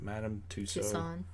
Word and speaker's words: Madame Tussauds: Madame Tussauds.